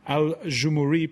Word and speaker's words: Aljoumhouri: Adnane Ben YOUCEF of the opposition Aljoumhouri party. Did I pronounce it correctly?